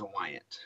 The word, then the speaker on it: Wyont: So my last name is Wyant, Wyont. Wyant, like Wyont, but like if the O was an A, Okay, Wyant.